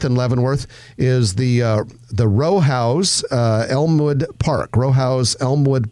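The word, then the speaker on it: Rowhaus: Leavenworth is the the row house Elmwood Park Row House Elmwood Park Row House spelled Rojas r-o-w-h-a-u-s a little bit of a German word there those those are some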